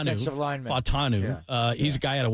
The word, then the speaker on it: Fautanu: Their first-round pick was Troy Fonatu, I'm mispronouncing the name. It's Troy, the Fautanu. offensive lineman. Fautanu.